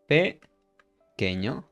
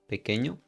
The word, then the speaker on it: pequeño: Pequeño. We don't pronounce the U when it's between these two letters. Okay, Q and E. Pequeño.